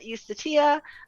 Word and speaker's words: Eustatia: playing a judge uh eustatia um not a j sound a a long i um she is named